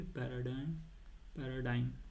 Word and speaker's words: paradigm: security paradigm, ठीक है, पैराडाइम, ठीक है, जी यहाँ पर साइलेंट होता है, ठीक है, पैराडाइम में जी साइलेंट होता है, याद रखना।